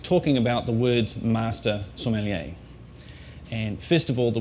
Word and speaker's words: sommelier: First of all, what not to say, Somalia.